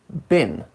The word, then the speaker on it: been: influent everyday English when the auxiliary bean is not stressed its pronunciation changes to bin I've been in London since 2015 becomes I've been in London since 2015.